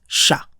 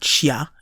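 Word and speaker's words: しゃ: Likewise, we have a normal-sized shi plus a small ya, which gives us sha. Not shia in this case, but sha.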